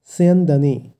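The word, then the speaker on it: স্যন্দনে: এরপর আছে মহতি অর্থাৎ মহান, তারপর আছে স্যান্দানে। এখানে দন্তস্ব আছে যেহেতু প্রথমে, তাই শয়ের উচ্চারণটা হবে স, স কিন্তু নয় স, স্যান্দানে।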